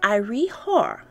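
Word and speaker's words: Iry-Hor: artifacts from the 32nd century bc it is pronounced ire hor and is believed to be the name of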